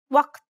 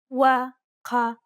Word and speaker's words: وقت: In Egyptian and Levantine dialects, this letter is a glottal stop, like the stopping sound in uh-oh.